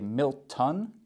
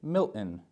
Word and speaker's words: Milton: a little bit tricky we don't want to say Milt T we want to try and say Milton m i l t